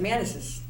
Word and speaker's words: Manisses: pronounce it Manasses.